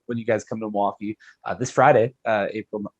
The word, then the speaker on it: Milwaukee: you say milwaukee it it's not just like it's like you take the il pretty much out of it it's basically m apostrophe w-a-u-k-e so milwaukee is just how when you grow up that's how you say it okay so they'll think i must have an outsider if i say milwaukee yes and also very quickly it is not millie wakey the thing from wayne's